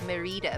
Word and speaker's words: Mérida: up, but I mean it is a Spanish word, so I had to pronounce it Merida.